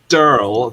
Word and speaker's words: Daryl: Oh yeah, and both of them are they're both called names that they pronounce almost identically, and also pronounce the word squirrel the same way they pronounce the names. They're called, one's called Durl, the other one's called